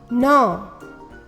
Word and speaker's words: gnaw: The letter K is silent. GN sounds sign, gnaw, gnat, design, ensign.